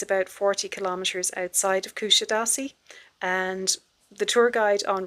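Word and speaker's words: Kuşadası: than being aware that Kusadasi or well actually she pronounced as Kushidasi is a resort I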